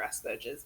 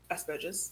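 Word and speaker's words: Asperger's: it could just be through your asures but yeah I think is that how it's pronounced as spurges yeah ah I've been pronouncing wrong forever technically I believe it's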